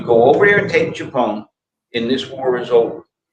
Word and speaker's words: Tchepone: Directly west of Khe Sanh, in Laos, there's a town called Chapone. And it's spelled either Xepon or Tchepone, depending on whose spelling it is.